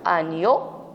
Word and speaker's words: agneau: Et attention ici, un agneau. E-A-U se prononce O. C'est le son O. GN, agneau. Ici, un signal.